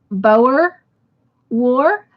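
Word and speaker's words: Boer: you both got it correct it was the Bower war is the way it's pronounced and it is spelled b-o-e-r so good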